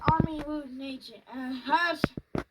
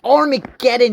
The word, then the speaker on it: Armageddon: Hey guys, Army Root Nation. I can't say that word correctly, guys. Armageddon? It's Armageddon, you idiot! Didn't even know how to pronounce Armageddon correctly back then.